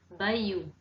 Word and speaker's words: Bayeux: Então, a pronúncia, procurei para vocês, seria mais ou menos assim, Bayeux.